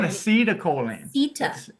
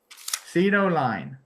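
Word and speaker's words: citicoline: When you said acetylcholine, that is a vital No, no, not not acetylaoline.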